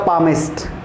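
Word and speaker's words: palmist: next आपका पामिस्ट, एल इसमें क्या होता है, साइलेंट, पामिस्ट का मतलब क्या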